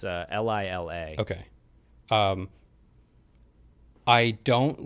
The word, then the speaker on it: Lila: I think they may have pronounced it Lila. I kept saying Leela. It's Lila.